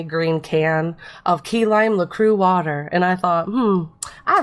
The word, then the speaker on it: LaCroix: LaCroix. LaCroix. No, that's not that. It sounds more. It's got an X on the end, so what the heck? But I think that's silent, you turkey.